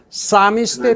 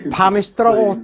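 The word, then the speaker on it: psalmist: 그런데 시편을 낭송하는 이 사미스트의 피가 묵음인 것도 모르고 파미스트라고 2번이나 말해 미국민들을 놀라게 했습니다.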